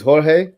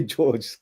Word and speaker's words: Jorge: Yeah, some say it's Jorge, but obviously English people say George because it's easy to say that.